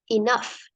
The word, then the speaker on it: enough: The letter G, the letter G and A here we pronounce that F. Enough.